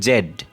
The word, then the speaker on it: Z: পারে এরকম উচ্চারণ করছে, যেমন আমরা এটা জি জানি জি, কিন্তু আসলে তারা উচ্চারণ করবে জেড। তো জেড উচ্চারণ করলে মানে জি একই কথা। এখন জি আমরা বলি কিন্তু তারা বলবে জেড, ঠিক আছে?